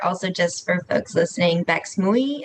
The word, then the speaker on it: Bex Mui: Also, just for folks listening, Bex Mui is how you say my name, she and her pronouns.